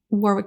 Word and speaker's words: Warwick: I just kept noticing like these like um Warwick oh I'm gonna get his name wrong Warwick thank you Warwick Davis yeah and I was